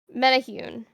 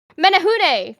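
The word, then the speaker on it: Menehune: and the son named Metahune. No, that is not I literally have another myth on this later. How do I not remember how to pronounce it? I was practicing. Uh, it is Menahune.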